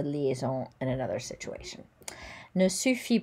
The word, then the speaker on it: suffit: Suffit. So we don't pronounce the T.